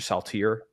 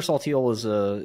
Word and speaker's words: Saltiel: But can you tell us a little bit about, I might mispronounce it, Dr. Saltier? Yeah, Dr. Saltiel was my psychiatrist, is my psychiatrist, and he's a fantastic man.